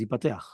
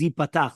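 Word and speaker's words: יפתח: So, if you see in 300, according to Rav Mazuz, the correct pronunciation is yipatach. See the appendix Leuk Megirsa found in the prayer book of the Ish Matzliach. Almost all other prayer books, though, spell it yipateach as it appears here, right?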